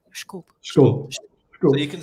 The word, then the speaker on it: disculpe: The funny thing is that word is written like disculpe, and actually it's pronounced like schkulp.